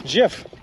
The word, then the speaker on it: GIF: uh on Mr yep that's pronounced however the creator of the GIF wants it that he said it's free on it's Jeff I've always read it Jeff I've never read it as a gif this is wild this